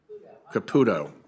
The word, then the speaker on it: Caputo: so uh miss capito is it caputo i just want to it can be pronounced both ways we've had to be careful about that over the years what are the odds